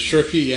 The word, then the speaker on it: Schurke: The name is Schurke, and I'm glad to be here. Schurke. Man, I really don't know how to pronounce.